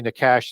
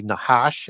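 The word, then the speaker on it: Nachash: And so it's I like to say Nakash too. It's actually Nahash as the Hebrews. It's that C is silent.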